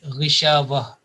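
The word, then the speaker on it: غشاوة: will be removed, and only ha with a sukoon will be left out. So the pronunciation will be Ghishavah.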